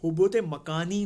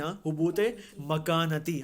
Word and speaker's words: حبوط مکانتی: حبوط مکانی نہیں، حبوط مکانتی. ہم کہتے ہیں نا زمان و مکان، اسی سپیلنگ سے مکان ہے، حبوط مکانتی ہے یہ.